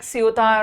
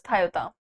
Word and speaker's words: Ceuta: I know it seems like Ceuta or something, but the Spanish pronunciation for this is Toyota.